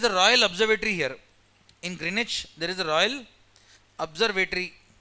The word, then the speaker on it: Greenwich: It's pronounced as Greenwich, W silent. It's not Greenwich, it is Greenwich.